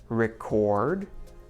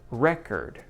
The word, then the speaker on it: record: And when we stress the second part, record, content, we get adjectives and verbs, which is pretty cool.